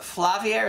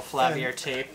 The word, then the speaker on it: Flaviar: We're going to be unboxing the Flaviar.